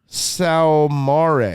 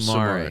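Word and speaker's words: Soumaré: Soumare. Salmare. Samare. That's Samare. Samare.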